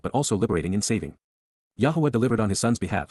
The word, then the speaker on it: Yahowah: and recite, Cal imperfect cohortative, from 11 QPs, Yahowah, Yahowah, the proper pronunciation of the name of Eloah, God as